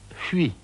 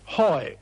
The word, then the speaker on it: Huy: on the Meuse called Huy, H-U-Y. It's a very difficult word to pronounce in English.